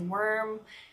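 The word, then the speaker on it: Wurm: a surprise there either my last name is worm it's spelled W you are M you can pronounce affirm if you want it's very German there is a river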